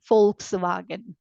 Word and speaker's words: Volkswagen: become V so I read it as wagon not wagon okay it's no more wagon it is wagon folks wagon wag okay folks wagen that's how you read this folks wagen okay folks is like people wagon is vehicle people vehicle that's what it means folks